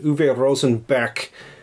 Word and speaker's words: Uwe Rosenberg: Berg, and then the German, like, K for G. Uwe Rosenberg.